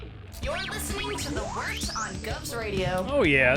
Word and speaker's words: Wort: It is the Wort, not Wart, not Fort, not Short, the Wort.